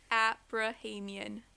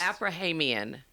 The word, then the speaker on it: Aprahamian: Abrahamian See I always mess that up. I'm always so close. Is it just the number of syllables? Abrahamian Abrahamian Abrahamian Yeah.